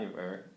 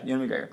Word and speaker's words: Ewan McGregor: you see Ian McGregor, or not Ian McGregor. Ewan McGregor? Ewan McGregor? Whatever. Isn't that his name? Yeah, Ewan McGregor. That is it.